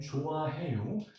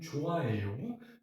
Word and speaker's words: 좋아해요: plus the fact that if you see an H sound somewhere in the middle of a word, it's practically silent.